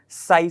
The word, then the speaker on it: psi: और wave function को हम कैसे शो करते हैं, साई से। समझ गए बात, इसकी स्पेलिंग साई SI नहीं है, ये क्या है PSI है, ठीक है।